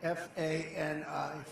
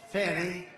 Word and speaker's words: Fani: Because people can see, and they're smart, and we could sometime explain it, but one after another, you had Fani, F-A-N-I, which is usually pronounced Fanny.